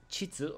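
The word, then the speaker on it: 秩: Chitsu on the left side, meaning regularity, salary, or ordery.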